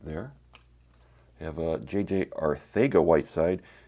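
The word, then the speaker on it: Arcega: Arthega Whiteside. The pronunciation is a T-H instead of the C.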